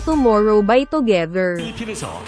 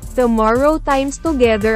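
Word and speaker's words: Tomorrow X Together: iginawad niya ang global Kpop leader sa grupong tomorrow by together agaw at at ang pag-announce ni Francine Diaz sa winner tomorrow time together mali ang pronunciation nito sa txt tomorrow times together ang kanyang nasabi instead of Tomorrow by together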